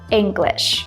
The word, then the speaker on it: English: henesis pronounced the word English the first sound is more like e like in the word meat for example Ing and then we say glitch English the second sound is